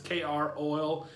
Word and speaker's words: Kroil: have you tried croil i think it's croissant pronounced it's kr oil um it looks like the if you've ever